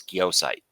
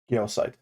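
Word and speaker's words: Gyossait: of it um but the uh cor correct pronunciation is geosite geosite okay yep and uh yeah but I'm not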